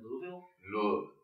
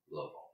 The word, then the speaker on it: Louisville: Didn't they get another that's the wrong way to pronounce it? Isn't it Louisville?